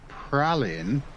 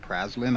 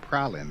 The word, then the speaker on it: Praslin: i was calling it praslin i've always been calling it praslin turns out it's actually pronounced pralin the s is silent so there you go